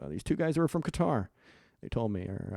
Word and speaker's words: Qatar: These two guys were from Qatar, they told me, or I believe it's cutter is how it's pronounced.